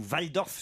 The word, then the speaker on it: Walldorf: signée de l'allemand marcel walldorf ou vaille dorff si je doit prononcer à l'allemande qui a 27 ans